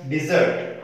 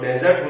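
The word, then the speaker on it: desert: हालांकि इसको अगर नाउन फॉर्म में बोलेंगे तो डेजर्ट होता है, जिसका मतलब होता है रेगिस्तान, लेकिन यहाँ वर्ब फॉर्म में हम पढ़ रहे हैं तो इसका उच्चारण है डिजर्ट, जिसका मतलब है किसी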